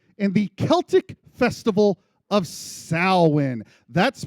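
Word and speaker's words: Samhain: Halloween has its roots in the Celtic festival of Sin. That's pronounced Swin.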